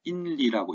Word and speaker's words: 인리: 나의 네, 아홉 구족과 아홉 족과 그 다음에 인리라고 읽는 게 좋겠죠. 이거는 뭐 도금을 하다 보면 이렇게 이제 이 린자인데 실제로 글을 읽을 때는 인리라고 읽는 게 더 나을 수도 있겠죠.